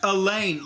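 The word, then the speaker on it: Alain: of a lot better it's the french version of alan got it it is pronounced elaine like i said precious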